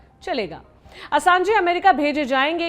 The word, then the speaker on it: असांज: अब असांजे का परिचय भी जान लेते हैं संक्षेप में। जूलियन असांज भी कुछ लोग प्रोनाउंस करते हैं इनका नाम।